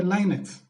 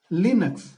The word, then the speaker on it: Linux: Some people will call it as a Linux. But the pronunciation is Linux. Lenux.